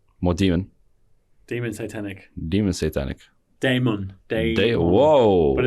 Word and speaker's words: Satanec: This has been Mo, and as I learned, his last name is Satan. Satanic.